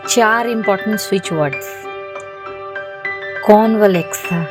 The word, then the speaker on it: Convalexa: चार important switch words कॉन वले था जहां पर ए साइलेंट है पैसे के लिए दूसरा